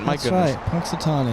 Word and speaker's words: Punxsutawney: me how to pronounce that it's the groundhog Punxsutawney there you go that's right I have I know what it is Joshua knows what it is I just pronunciation Punxsutawney yeah there you go as we change the